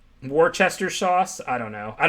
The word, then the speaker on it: Worcester: Like, you see how they just typed it out? WUSS-THA. So, obviously it's not going to be perfect, but like when I see that, I think, Worcester, the way it would be said.